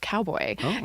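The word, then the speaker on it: Kaubo: So, cowboy is spelled K A U B O, but it's pronounced cowboy.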